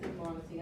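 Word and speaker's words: thigmonasty: It's not a tropism, but it's figmonesty, or figmonasty, if that helps you remember. But it's actually pronounced figmonesty, and I've got a little video to illustrate this, so hold on a second.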